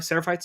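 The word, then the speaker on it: Seraphites: Sarapites.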